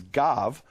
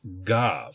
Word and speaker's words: gav: in modern Hebrew is pronounced as a b when it appears at the beginning of a syllable but as a v sound when it is at the end of a syllable such as it is here in the word gov.